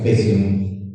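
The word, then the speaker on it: faecium: Oum se escribe, pero se pronuncia fesium, es el que con mayor frecuencia resistente a la bancomicina.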